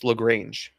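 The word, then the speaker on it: Lagrange: Carlos Lraange, which is how you pronounce it. Lrange. They put out like their pronounce. It's that.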